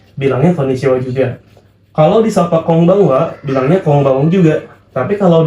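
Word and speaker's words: こんばんは: Ada konbanwa. Selamat malam. Dibacanya kong ya, bukan kon. Dibacanya konbanwa, bukan konbanwa. Ya, kecuali konnichiwa karena dia ada huruf n nih, ada huruf ni ya.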